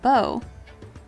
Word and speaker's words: bow: The word, insert word, is pronounced with a long A sound. Long A. Like bow. It rhymes with cow. Oh. Or how.